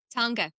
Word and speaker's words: teanga: Tonga.